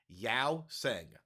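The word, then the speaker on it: Yeosang: How do you pronounce that member's name? Yao Sang.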